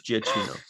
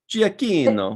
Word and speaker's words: Giacchino: Looks like it's Giacchino. Giacchino. Giacchino. It's CH in Italian when they're together is K. You're right, like Pinocchio. Mm-hmm. Okay. Giacchino.